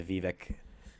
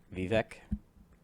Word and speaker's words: Vivek: Vivek? Or is it the new orange? Because it's a last syllable, Vec. Anything rhyme with Vec.